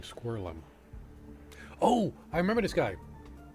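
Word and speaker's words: Screwllum: That's how you say his name, Squirrelum.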